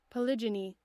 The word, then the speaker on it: polygyny: polygin gin polygamy polygenie how do you pronounce this polygyny polygyny so polygony is when